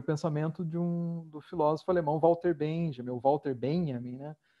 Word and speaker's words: Benjamin: O correto seria Benjamin, né? A pronúncia, né? Benjamin.